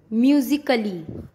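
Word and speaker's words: musically: ए कब साइलेंट होता है? रूल, जब ए के बाद डबल एल वाई आए तो ए साइलेंट होता है। मैंने क्या बोला? ए के बाद डबल एल वाई आए तो ए साइलेंट होता है। जैसे म्यूजिकली, लॉजिकली, फिजिकली। Rule number 2, बी कब साइलेंट होता है?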